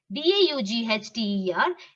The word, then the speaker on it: daughter: this just concentrate naiba daughter it's like doctor g h is silent